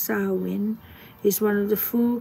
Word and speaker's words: Samhain: There's that, and then we have a whole section on Samhain and what it is and what it means.